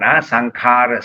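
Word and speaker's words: saṅkhāra: So it's called S-A-N with a dot. Sankhara, Sankhara, Sang. S-A-N-G. Pronounced as S-A-N-G.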